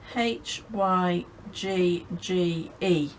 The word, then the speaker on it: hygge: more about hygge it's it's not spelt the way it sounds it is spelled h y g g e so it's spelled like